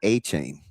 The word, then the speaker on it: Etienne: Which by the way, how did we go this long with calling Travis Etienne and not A chain? What? Yeah, that's his pronunciation.